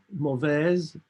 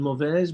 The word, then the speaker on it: mauvaise: But when the word is isolated, you would say mauvaise, but if it's followed by trouvaille, you would say mauvaise trouvaille. So this E disappears.